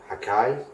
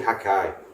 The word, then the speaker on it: Hakkai: gonna really like haki hakai haki hakai after this as you would say hakkai because it's spelled more like hakai I like how Maggie's